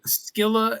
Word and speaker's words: Scylla: That is Scylla and Charybdis.